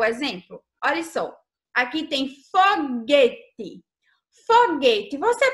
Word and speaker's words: foguete: Olha só, aqui tem foguete. Foguete, você pronuncia esse U?